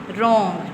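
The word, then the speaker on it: wrong: डब्ल्यू के बाद आर होगा तो उसमें डब्ल्यू साइलेंट होगा। ठीक है? जिस तरह से रॉन्ग।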